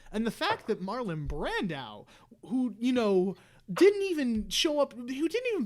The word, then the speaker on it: Brando: You've been adding some odd emphasis at times where it's like Brandao.